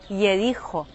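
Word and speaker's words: יריחו: Jericó em hebraico se pronuncia Yericho e ela pode significar ou a cidade perfumada ou a cidade da lua, já que em hebraico Yarer significa lua.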